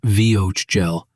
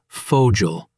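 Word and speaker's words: Vogel: But usually V in German sounds like the English F. So W is V and V is F mostly. Yes. Max, that's chaos. That's German. Okay, walk me through it please. The word vogal bird not vio gel it's foggial the word vorelong presentation introduction not vorelong with a v like very it's forelong forestel oh wow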